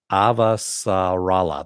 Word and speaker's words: Avasarala: uh yes is that right i'm just uh avasarala avasarella there we go now i can actually